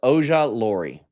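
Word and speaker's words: Ojulari: It's pronounced Oja Lori.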